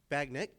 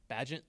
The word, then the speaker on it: Bagent: a Bagnet guy. Bagent.